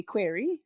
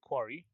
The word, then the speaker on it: Quarry: watch you watch um game play of the query Quarry yeah I just mispronouncing yeah of the quy yeah yes the